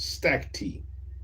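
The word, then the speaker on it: stacte: The word is pronounced stack tea.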